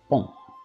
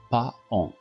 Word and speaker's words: paon: On prononce ici un paon, non pas paon, un paon, un paon. Le A ne se prononce pas, un paon.